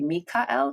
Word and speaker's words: Michael: It wouldn't have been Michael. It would have been Michael. And they don't have the ch either. But Mm-hmm. even like an Americanized version, it should be Mikael, because anyway, small thing, maybe even fluff.